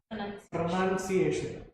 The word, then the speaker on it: pronunciation: the thing is that the word pronunciation spelling is p-r-o-n-o-u-n-t-i-a-t-i-o-n and it is pronounced as pronunciation that itself many people you know make a mistake in that so mistakes are okay